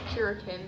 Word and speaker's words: Kuryakin: I would pronounce it Curikin.